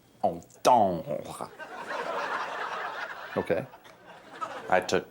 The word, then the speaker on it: entendre: Kind of a double entendre, if you will. Forgive me, but I believe the proper pronunciation is entendre.